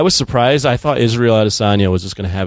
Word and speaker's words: Adesanya: I thought that Gastelum Adesanya, is that how you say his name? I've always called Israel Adesanya. Yeah. Adesanya, yeah.